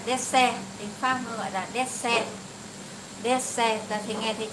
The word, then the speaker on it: dessert: ta gọi là dessert, tiếng Pháp gọi là dessert. Dessert, ta thì nghe thấy chữ D đúng không? Des, ta đọc là des.